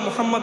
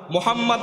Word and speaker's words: মুহাম্মদ: আলিফ লাম লাম হা মুহাম্মদ উচ্চারণ করতে গেলে তিন নম্বর অক্ষরে গিয়ে একটা হরফকে ডবল উচ্চারণ করতে হয় আল্লাহ উচ্চারণ করতে